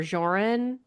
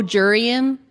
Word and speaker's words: Jurian: Warren or Joran and Clifyia. Oh, Jurian. That's it.